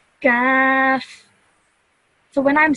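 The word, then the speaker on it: كاف: So a thick sounding letter, I would say Qaf, and a thin sounding letter of this, I would say Kaf.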